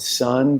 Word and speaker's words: Sunn: was writing a piece about this band called Sun. Do you guys know Sun? Sun. No, It's spelled SUNN with like an O, and they're